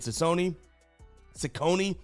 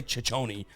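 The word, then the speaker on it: Cecconi: Now on the bump here for the Guardians going to be Slade Cone Sakone. Still working on how to say his name. I want to say Chichone, but I think it's Sakonei. We should know by now.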